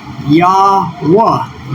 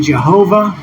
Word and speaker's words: Yahweh: remember the syllabic structure, which is Yahweh, Yahweh. And so by doing that, we can see clearly that the Greek modern Hebrew is an error here by saying Jehovah. There's no long O, ho, as in Jehovah.